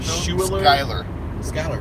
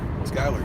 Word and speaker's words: Schuyler: No, Schuler. Skyler. Yeah. It's a hard C. SC like school. SCHUYLER. Like school, not shul. Skyler.